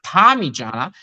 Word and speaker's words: Parmigiana: Why do you feel it is what you said it is when it's pronounced Parmigiana, but most importantly, it's spelled P-A-R-M-I when then blah blah blah.